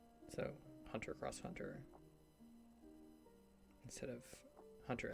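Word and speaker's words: Hunter × Hunter: crossover between different elements the x is pronounced as cross so Hunter cross Hunter instead of Hunter x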